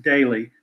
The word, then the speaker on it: Doelle: It's going great, and I won't hold it against you, but it's pronounced daily.